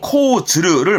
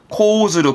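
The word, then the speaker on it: 講ずる: 보통은 코즈르를 많이 쓰는 편. 둘 다 씁니다. 코즈르, 코즈르.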